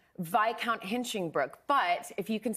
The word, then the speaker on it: Viscount: card, and it said Viscount Hinchinbrook, but if you can see, Viscount is spelled with an S, and I thought it rhymed with discount, so I said, why does your credit card say Viscount Hinchinbrook?